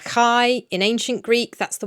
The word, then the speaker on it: chi: and the Greek letter chi in ancient Greek. That's the one that looks like an X. It's actually pronounced like a ch, like the CH in loch.